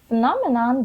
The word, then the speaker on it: phenomenon: of an interesting phenomenon what is phenomenon and phenomenon the stress is is on end phenomenon so